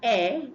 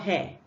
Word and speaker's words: heir: Do you know that the H here is silent? And heir to the throne. We are joint heir with Christ. Heir, not hair. So you must not pronounce this H. If you pronounce it, you'll be saying hair.